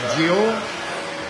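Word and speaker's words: Győr: Looks like it's Dior, but it's actually pronounced Dior in Hungary.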